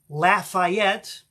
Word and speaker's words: Lafayette: in the towns of Lafayette and that is the way they pronounce it in Louisiana Lafayette sheveport Austin or